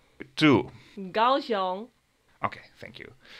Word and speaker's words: Kaohsiung: So, this time it's a video from, I don't know how to pronounce it, I'll let my girlfriend do the job. Haulien! To Kaohsiung.